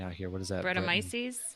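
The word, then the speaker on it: Brettanomyces: the wild yeast oh gosh bretton i can't pronounce that word henry help me out here what is that rhetomices bretomices there we go i'm like call yourself a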